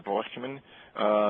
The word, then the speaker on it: Breuckmann: This is the Breuckmann. You have to say it like that, they're German.